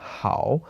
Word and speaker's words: 好: In today's character mind map, we talked about the character hǎo, which means good or very, and can sometimes with another pronunciation in the 4th tone, hǎo, mean to enjoy something.